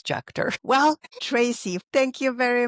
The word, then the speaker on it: Juechter: You actually gave my last name a a more German pronunciation, but I have to admit my family only says Jucker.